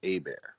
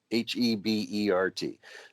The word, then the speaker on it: Herbert: First, let me back up and say, just to put it out there on the record, my last name is actually pronounced Hebert, Hebert, Oh not my Herbert.